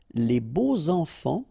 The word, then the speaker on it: les beaux enfants: And here it's quite interesting because even if you've got this X, well, phonetically it will be like Z, so like if it would be an S, okay?